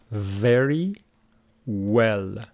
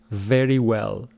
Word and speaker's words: very: say it is well if you want to pronounce this you should say very well the first one is a labod dental V